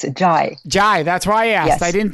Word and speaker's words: Zhai: Zhai. And is that the correct pronunciation of your last name? It's Zhai.